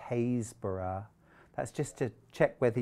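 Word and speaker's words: Happisburgh: you're not going to catch me out there it's spelt h-a-p-p-i-s b-u-r-g-h happisberg but i lived in norfolk and i know it's pronounced hazeborough that's just to check whether you're a local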